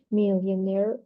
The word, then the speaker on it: millionaire: pronunciation points below although the stress of the word millionaire is on the last syllable when the word is pronounced in isolation in a phrase like